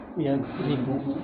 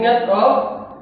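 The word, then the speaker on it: يَكْتُبُ: Antum bacanya apa? Yaktubu. Yaktubu, enggak mungkin yaktubu, enggak mungkin yaktobu, yaktobu.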